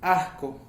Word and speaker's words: ajco: En la forma fonética, en el cómo tú tienes que pronunciarlo. No es tan difícil, pero creo que sí tiene que ver mucho el cómo lo digas, el cómo la garganta influye para que suene de tal manera y no se confunda.